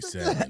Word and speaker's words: salmon: Like the L should not be there. It shouldn't. It shouldn't. I'm trying to pronounce all my letters. Yeah, but it's definitely salmon.